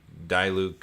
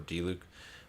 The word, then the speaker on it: Diluc: we're just doing the die luke limited time event uh or d luke really got to work on this pronunciation this is i don't hear that it's a very uncommon name so that every time i go to say it it's like i instinctively want to say die luke but it's it's i